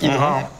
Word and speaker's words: Hydra: Roach infestateur donc Hydra Hydra parce que ça se prononce Hydra à toutes les cartes